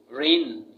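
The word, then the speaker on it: reign: रेन, इसमें जी नहीं बोला जाएगा, रेन बोलेंगे इसमें।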